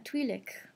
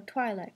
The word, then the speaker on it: Twi'lek: But, for Comic-Con this year, I'm going to be dressed as a Twi'lek, or Twi'lek, however you want to say it. It's actually pronounced both ways.